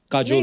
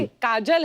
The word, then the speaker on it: Kajol: बड़ा यूनिक नाम है आपका, काजोल। काजल है ना, but काजल होता है, काजोल हाँ, but मतलब बंगाली में काजोल। बंगाली में ऐसे बंगाली में ऐसे उसका प्रोनाउंसिएशन है पर सर।